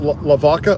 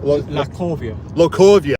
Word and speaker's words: Lacovia: You pronounce that Lavaca? Lacovia. Lacovia.